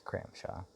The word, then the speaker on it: Kramshoj: there but uh it's crampshaw the j is silent it's danish last name um other than that